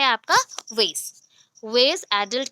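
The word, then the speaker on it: WAIS: Second veg, वेज, ठीक है, बट इसका स्पेलिंग देख लो, वेट जैसा बोलते हो वैसे ही है वेज।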